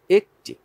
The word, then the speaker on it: একটি: ঠিক আছে, তাহলে এক বললে এ জফালা আসছে, কিন্তু একটি বললে সাথে যদি টি যুক্ত হয়, তাহলে কিন্তু আর এ হবে না, এর স্বাভাবিক উচ্চারণটাই আসবে একটি।